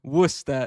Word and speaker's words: Worcester: Worcester is westerire except it's pronounced Worcester.